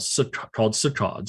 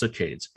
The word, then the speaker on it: saccade: They jump in patterns called saccades, or sometimes pronounced saccades.